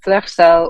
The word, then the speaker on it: Fleur Seule: Fleur Seule, or anything close to that, is how you say the band name.